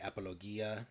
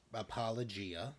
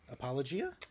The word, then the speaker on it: Apologia: church is app i always want to say apologia church but it's apologia apologia apologia that's how they pronounce it okay and it's it's a little